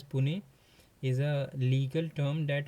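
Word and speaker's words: puisne: So pusen pronounced as pune is a legal term that originated in the France meaning junior or inferior in rank in India.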